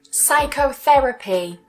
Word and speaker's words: psychotherapy: say the P psychiatrist psychic psychic psychology psychology psychotherapy psychotherapy psychotherapy psychotic psychotic.